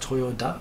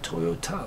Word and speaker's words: Toyota: for her name pronounced Toyota with a d but she actually pronounced it Toyota like the car which makes me think